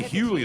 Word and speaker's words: Hughley: I say Hughley.